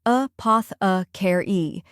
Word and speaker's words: apothecary: The correct pronunciation is apothecary. Let's break it down. First, we have a short and relaxed sound, like the A in sofa. Next is poth, which rhymes with moth.